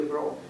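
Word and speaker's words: Breaux: Her last name is spelled B-R-E-A-U-X, Zelia Bro.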